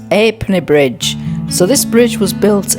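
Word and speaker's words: Ha'penny Bridge: Guys, I'm actually pronouncing it wrong. It's Halfpenny Bridge.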